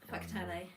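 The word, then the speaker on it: Whakatāne: It's When you look at a w h, nobody thinks, "Oh, that's going to come out as an f."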